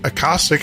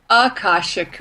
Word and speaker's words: Akashic: She's a lifelong interest in the Akashic, I hope I said that right, records, resulting